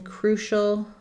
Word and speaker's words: crucial: So we have first syllable stress in crucial. Letter U says oo. The letters CI say the SH sound. And then we have a schwa or just a syllabic L.